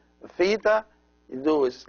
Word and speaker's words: theta: The Theta is pronounced like the TH in thanks. So it's th, th.